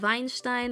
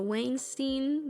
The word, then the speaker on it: Weinstein: Quiero mucho a la familia, a los Weinstein o Weinstein, depende si lo pronuncias en inglés o en español. Digo, en alemán o en inglés.